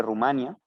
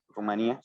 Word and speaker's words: Rumanía: Hubo, creo que de Rumania, Rumanía, se puede pronunciar de ambas maneras, un chico que decidió hacer una solución súper rara, ¿no?